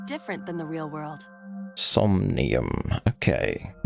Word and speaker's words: Somnium: in somnium is different than the real world some Neum okay that's how you pronounce it this could be useful you can